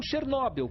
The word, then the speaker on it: Chernobyl: Bem-vindos a Chernobyl, ou Chernobyl, como os ucranianos falam.